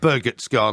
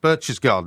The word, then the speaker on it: Berchtesgaden: I know the local dialect. It's not Berchtesgaden. No, you've got to give me a full point on that. Well, spell it then. We're not going any further. Spell it then if you want to get a full point. Berch garden. Okay. Berchtesgaden. That's the way you pronounce it.